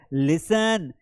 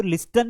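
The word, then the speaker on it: listen: यहां पर है लिसन, लिसन टू मी, तो यहां पर टी को तो हम पढ़ते ही नहीं, हम तो लिस्टन नहीं बोलते हैं।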